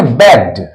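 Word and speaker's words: begged: बेग्ड। यहां पर डी का उच्चारण करेंगे हम लोग, डॉ का, बेग्ड।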